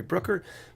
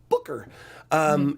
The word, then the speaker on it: Booker: name wrong because I always get say Cory Brooker but it's Booker and he he got one